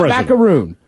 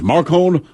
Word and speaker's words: Macron: I know it's not Macaroon. I heard it like 4 times. The problem was, everyone I heard say yesterday, that even though it's only 2 syllables, they all put the accent on a different syllable. So I'm like, I don't know if it's Marcon.